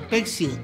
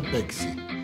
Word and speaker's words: Pepsi: decir pexi a la pexi es la paz entre los mozos de antes que decimos pexi y los camareros de Palermo Hollywood que dicen Pepi celebremos con emoción esta